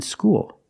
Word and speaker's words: school: L's are different there when you said School you used a dark l because the L is at the end of the word after a vowel so